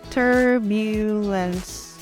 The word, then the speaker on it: turbulence: Turbulence termina com a letra E, então não pronunciamos, vamos terminar com o som da letra S.